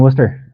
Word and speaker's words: Worcester: Um, got here in January, like I said, and been enjoying Worcester. I think that's how you say it.